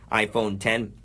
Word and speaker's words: iPhone X: the iPhone X which is apparently actually just a Roman numeral 10 so it's pronounced iPhone 10 Apple CEO Tim Cook